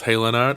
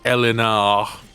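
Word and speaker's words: Haillenarte: for aid very well is it house hailin art or house elena that's the question it's french right so you wouldn't pronounce the h pardon me i don't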